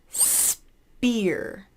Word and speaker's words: spear: guy skye next one spear spear so beer is the secret word in there spear alright the next